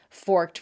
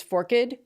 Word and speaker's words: forked: I left out learned and blessed and still others whose pronunciations vary depending on dialect. Forked versus forked, peaked versus peaked, alleged versus alleged, supposed versus supposed, legged versus legged, and striped versus striped.